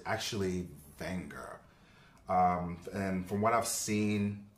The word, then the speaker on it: Wenger: the Swiss Army knife I thought you would pronounce the name Wenger but it's actually finger and from what I've seen online about this